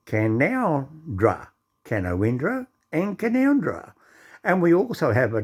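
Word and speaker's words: Canowindra: town called canawendra which is all pro so pronounced as canondra now can oundra and kanowindra is the same town you write it down can can o win and can now draw kanowindra and canondra and we also have a town called dunny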